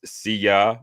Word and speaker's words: Syya: There's Syya, and pronounced Syya as in Syya. Wouldn't want to be ya.